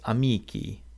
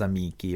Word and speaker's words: amici: For second declension nouns, the nominative plural ending is an E, a long I, pronounced E, which gives us amici.